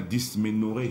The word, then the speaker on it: dysménorrhée: On en a parlé hier, c'était la primaire hier, la dysménorrhée. Je prononce bien là, docteur? C'est bien ça.